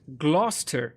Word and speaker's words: Gloucester: all that out uh it's pronounced gler all right Gloucester dualingo